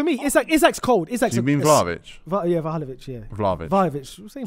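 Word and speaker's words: Vlahović: Oh, Vahalovic. Yeah. Vahalovic. For me, Isaac's cold. You mean Vlahovic?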